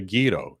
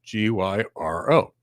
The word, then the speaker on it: gyro: For example, last night, my wife picked me up something called the Gyro, Gyro. It's a Greek thing. It's really great. But anyway, neither here nor there. We call it gyro because that's how they say it in Greece.